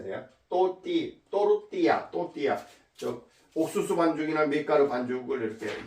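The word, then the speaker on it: tortilla: 또띠아는 또띠야. 스페인어로 공부하는 사람은 안 돼. LLA가 라가 아니고 야라고 발음하면 돼. 야, 또띠야라고 발음해야 돼요. 또르띠야.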